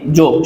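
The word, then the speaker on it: ز: खा से खा, दाल, वाल, वा, रॉ वा, ज़ा सीटी की आवाज़ आनी चाहिए।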